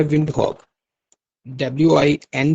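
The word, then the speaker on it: Windhoek: इसका कैपिटल है विंडहक डब्ल्यू आई एन डी एच ओ ई के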